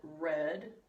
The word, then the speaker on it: read: Read, it looks like the same word, but in the past participle we pronounce it read.